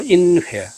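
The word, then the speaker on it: 仁怀: 그 마오타이를 품고 있는 도시가 한자 발음으로 인회, 중국어 발음으로는 런화입니다.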